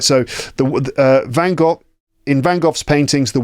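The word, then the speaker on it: Van Gogh: vanoff I pronounce it vanov there's lots of different pronunciations of his name but that's how he's generally pronounced in the UK in British English in Van goff's paintings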